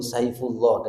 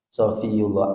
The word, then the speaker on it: Shofiyullah: sering keliru sering keliru orang lebih familiar nyebut Saifullah daripada sofiullah Angel muniofiah iku angel angel berkali-kali dalam kakti familiar gitu loh namanya itu ya walaupun sebenarnya sofiullah itu juga nama salah